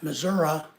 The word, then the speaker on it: Missouri: to meet girls yeah Missoura is the way that locals pronounce Missouri or Missour Missour Missouri is how I pronounce